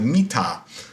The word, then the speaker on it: Midas: There actually is a King Midas whose name would have pronounced something like Mita in ancient Phrygian.